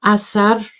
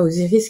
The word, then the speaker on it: Osiris: Alors Osiris, hein, je vous rappelle qu'on prononce Asar, et pas Osiris qui est le nom grec.